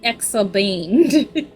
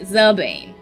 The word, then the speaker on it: Xabane: You know what's so funny? I never pronounce X's correct in any name. Because I quite literally say X. And I think that's where my problem lies. So, like, I'm looking at the pronunciation and it's still Exabane in my brain. Would that be more like, Bane? Zabane. Okay, Zabane.